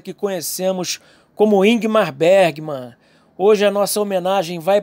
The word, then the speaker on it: Ingmar Bergman: o inimar Bari mano é assim que se pronuncie Sueco o nome do artista que conhecemos como ingmar Bergman hoje a nossa homenagem